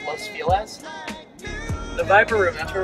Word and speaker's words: Los Feliz: It's actually pronounced Los Feliz.